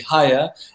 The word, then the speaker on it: Haya: So I figured that the modern Western pronunciation of that would be Haya, and the reason why